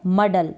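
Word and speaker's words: muddle: मडल की स्पेलिंग देखें, MU, म। अब मु या PU को प ही पढ़ें, ठीक है, प और MU को म, म और डबल DLE, मडल।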